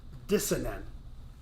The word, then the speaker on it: dicyanin: It's spelled DICYANIN. But according to my computer, it's pronounced dissonant.